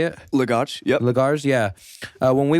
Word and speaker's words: Lagos: Lagos.